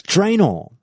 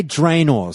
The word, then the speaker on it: Draenor: originated on the planets Draenor now I say drain or some people say Draenor and there's a very